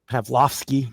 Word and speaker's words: Pavlovski: I I can't ever pronounce his name. Pavik Pav Pavlovski. Pavlovski.